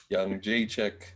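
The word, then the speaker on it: Jędrzejczyk: Young Jacek.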